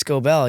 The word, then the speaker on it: Scobell: on anybody is like the right way to pronounce their name, obviously. But it is Scobell. It is Scobell, yeah.